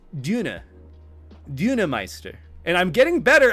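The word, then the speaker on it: Döner: Did not know how to pronounce it, so I'm like, oh, Donner.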